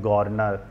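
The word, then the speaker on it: Garner: तो इन विचारकों में हम गॉर्नर, गिलक्राइस्ट वो गॉर्नर की जगह गार्डनर भी बोलते हैं, गॉर्नर बोलते हैं, प्रोनाउंसिएशन का अंतर है।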